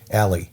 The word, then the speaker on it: Ali: I've got to remember he pronounces his own name Ali.